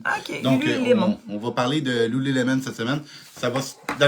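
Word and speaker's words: Lululemon: Ben oui, ben en fait beaucoup de gens disent Loulou Lemon mais ça s'écrit lu lemon comme un citron. Un lemon. OK, on va parler de Lou Lemon cette semaine.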